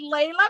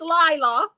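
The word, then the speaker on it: Laila: on Instagram at Gess and Facebook Leila perfu Lila W I got to correct that I always want to say Leila because one of my favorite songs is Lea but but uh it's Lila uh l a i l a perfume p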